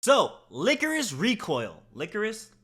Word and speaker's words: Lycoris: so licorice recoil licorice licorius like okay I'm pretty sure it's pronounced licorice recoil but if I'm wrong then hey don't hold me to it is this anime